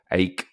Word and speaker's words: AEK: I was in Athens on my honeymoon, actually, and we went to the AEK, they pronounce it Aik locally, stadium, and there was the